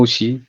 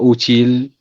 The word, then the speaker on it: outil: outils, exactement le mot outil. Monsieur Younes a corrigé ce mot et je pense que tous les profs a corrigé ce mot. Pas utile, c'est outil.